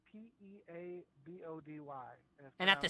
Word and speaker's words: Peabody: quick, It's spelled P-E-A-B-O-D-Y.